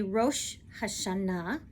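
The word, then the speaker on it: Rosh Hashanah: Spain versus Eastern Europe so in modern Hebrew today we say Ro hasana uh Eastern European Jews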